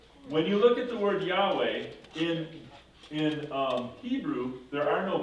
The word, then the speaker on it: Yahweh: So Yahweh becomes Jehovah in German, which is really not the way it originally sounded, but because of the way Germans translate things and how they pronounce things, that's where we get the name Jehovah.